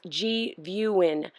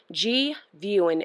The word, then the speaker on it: GVIEWIN: The name is pronounced GVIEWIN. GVIEWIN, as if you're viewing something. Get it? GVIEWIN.